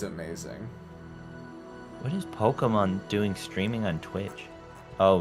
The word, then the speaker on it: Pokimane: I've never fucking Actually, it is supposed to be pronounced Pokemon.